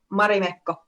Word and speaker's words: Marimekko: So Christine mentioned well, you say it so much better, but in the US I say Marimekko. How do you say it? Marimekko. Marimekko. Okay, I like that.